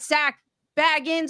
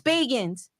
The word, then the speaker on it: Bagans: It's hard, but it's Bagans.